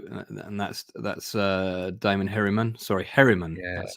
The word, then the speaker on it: Herriman: That's Damon Herron's girlfriend. Yeah, so and that's Damon Herriman. Sorry, Herriman. Yeah, that's how you pronounce it.